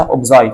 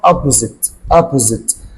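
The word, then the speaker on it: opposite: طب المضاد برضو ممكن نقول عليه، انت قلت عليها اوبزايت، انا اسمها اوبوزيت.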